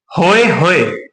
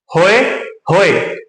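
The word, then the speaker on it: pahoehoe: नाम और भी है जिसे बोला जाता है होय होय जिसमें प साइलेंट होगा यह हमें याद रखना जरूरी है क्या है होय होय प को रखना है साइलेंट होय होय और मुख्य रूप से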